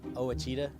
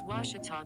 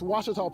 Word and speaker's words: Ouachita: ouachita sports digital network i've heard people say oh a cheetah oh wish tall oh a cheetah is it pronounced oh akita searching for washi at a baptist university back in texas everybody pronounces it wichita but really it's ouachita washington washington how would